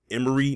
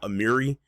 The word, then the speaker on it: Amiri: actually found out it's actually pronounced Emery not Amiri uh County king or